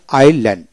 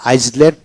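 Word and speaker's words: island: তারপর আসেন এসে যেন আইল্যান্ড, এখানে আইসল্যান্ড নয় আইল্যান্ড, এখানে আয়ের পরে এস উচ্চারণ হবে না, আইল্যান্ড।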